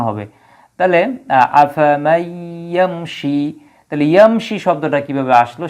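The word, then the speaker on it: أَفَمَن يَمْشِي: ইয়াকে এই জায়গায় মোশাদ্দিদ বানানো হয়েছে এজন্য একসাথে উচ্চারণ হবে তাহলে আফামাইশি তাহলে ইয়ামশি শব্দটা কিভাবে আসলো সেটা আমরা বিশ্লেষণ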